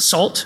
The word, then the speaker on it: NaCl: nacl by dan bernstein he pronounces it salt which is a little